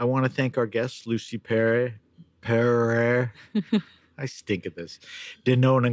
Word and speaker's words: Lucie Pereyre: Pronounce again. Lucy Pere.